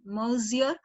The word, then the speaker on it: Monsieur: Monsieur, N is silent there.